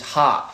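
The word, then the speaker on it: ห้า: In Thai, we pronounce 5 is ha.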